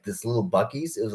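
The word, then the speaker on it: Buc-ee's: There's like a Bucky's. It's spelled like Buccee.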